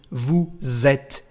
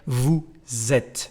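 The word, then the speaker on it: vous êtes: and the leason is Vu zet the sound is like the letter Z the letter Zed Vu zet when you pronounce it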